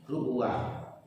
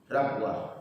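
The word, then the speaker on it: ربوة: Penduduk Madinah, Hijaz dan Irak secara keseluruhan membacanya rubuah dengan dambah ranya, dan sebagai penduduk Syria dan Kufah membacanya rabwah. yakni dengan di fathah ra-nya, dan juga yang mengatakan bahwa rabwa itu merupakan bahasa kabilah kami, juga dibaca ribwa dengan kasrah ra-nya, dan disebutkan bahwa ini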